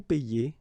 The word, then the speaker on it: paie: it's quite funny because we tend to make the difference maybe in pronunciation. So between this one, je paie, and then some persons can pronounce je paye. Okay, tu paies, tu payes, il paie, il paye. Here it's the same. Nous payons, nous payons, vous payez, vous payez, il paie, and then il paye.